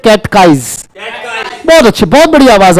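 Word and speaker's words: catechize: अगर लिखने में दिक्कत है तो हिंदी में उच्चारण लिख लिया करो, कैट लिख के और काइज कर लेंगे, कैटकाइज।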